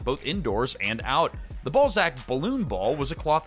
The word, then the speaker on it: Ballzac: Ballsack. Ballsack is the newest fun. What? No, it's actually pronounced Ballzac.